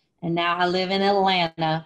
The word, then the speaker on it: Atlanta: As a kid who grew up in the South, and now I live in Atlanta, we do not pronounce the second T, by the way, and I grew up hunting.